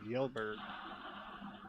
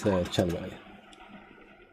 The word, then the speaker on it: Kjellberg: I was just reading it as like Yelberg. Oh, it's Kjellberg.